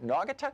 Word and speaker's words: Naugatuck: or noggin how do you say that town Naugatuck know I could talk Naugatuck okay what's up